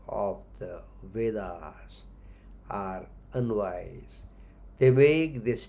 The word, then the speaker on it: Veda: In English we say Vedas, Veda. The correct word or the pronunciation is Veda.